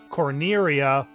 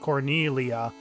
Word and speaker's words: Cornelia: Castle Corneria, but in later versions, it's called Cornelia with an L instead of an R. But yeah, that's supposed to be the proper pronunciation is with an L and not an R.